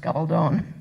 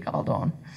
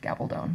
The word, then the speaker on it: Gabaldon: And they will also know that my last name is pronounced Gabaldon. It's because it's a Spanish name, and if we were speaking Spanish, it would be Gabaldon. But if we're not, it's Gabaldon. We just kept the long O to be fancy.